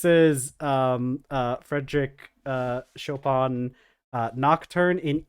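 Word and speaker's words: Chopin: listening to chopan um chopan I I know it's not pronounced choen but um I was listening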